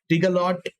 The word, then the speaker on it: Tigalot: Oh, it is Tigalot. Okay, that's great. I was afraid I was saying it wrong, so I'm glad I said it right.